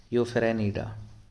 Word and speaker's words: Euphanerida: यूफेरेनिडा, इसका थोड़ा प्रोनाउंस ऐसा है, यूफेरेनिडा।